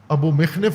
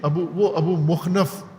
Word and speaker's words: ابو مخنف: یہ ابو مخنف نے یہ جھوٹ بولا ہے۔ ابو مخنف نے ابو مخنف تلفظ کرتے ہیں، ابو مخنف ہے اس کا